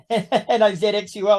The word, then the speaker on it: Nazxul: And you cover everyone from black metal bands like, I can't say this, Nazxul N-A-Z-X-U-L. How do you pronounce that?